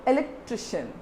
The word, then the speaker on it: electrician: word i told you whenever there is a sound called sham you have to put your stress with the before with the one step before the syllable so where you have to stress here you have to stress in the area tr i so what is this